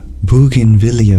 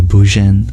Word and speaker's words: bougainvillea: He pointed to a sturdy clay pot with its bougainvillea vine.